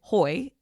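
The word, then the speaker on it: Heu: that actually does exist too that's called a Hoy that's spelled hu a Hoy hotel where you pretty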